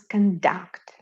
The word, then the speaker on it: conduct: verb or a noun when we pronounce conduct with the accent on the last syllable it is a verb that means to manage